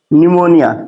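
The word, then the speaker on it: pneumonia: कि इसको क्या पढ़ेंगे निमोनिया निमोनिया इसको क्या पढ़ेंगे साइकोलॉजी बस इसमें आपको य ध्यान देना है की प के बाद एन या प के बाद एस आना चाहिए ठीक है और वर्ड और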